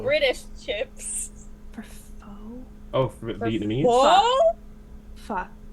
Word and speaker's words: pho: Oh, we should take Matt for They're pho. British chips. For pho? Oh, for Vietnamese? Whoa! Pho. Pho. Like, oh, fuck you.